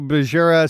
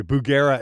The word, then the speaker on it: Bugera: go uh neverl Lord just picked up a berera 6262 and I absolutely love it paired with a aming 2 X12 black Shadows yeah there's absolutely nothing wrong with those or excuse me Bugera amps um yeah somebody keeps going you're pronouncing